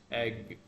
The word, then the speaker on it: egg: So the vowel sounds different. One is A, the other one is A. And the consonant at the end also it's different. This is K sound. K. Sharper K. Ache. And the other one is egg. G. It's soft. A little softer sound.